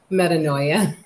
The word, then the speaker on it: Metanoia: How do you pronounce it? Metanoia.